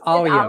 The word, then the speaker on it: Alia: Make sure you pronounce her name correctly. It is Alia.